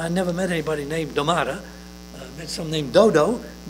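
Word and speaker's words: δόματα: It is spelled D-O-M-A. Let's see, I gotta read it in the Greek. D-O-M-A-T-A. Domata.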